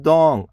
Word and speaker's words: Dong: My name is Dong. D-O-N-G. Delta Oscar November Golf. Dong is my name.